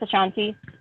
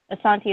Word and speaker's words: Asante: Asante tribe in Ghana or I pronounce Ashanti Asante is how you originally pronounce it but a lot of people know it as Ashanti Oh guitar played in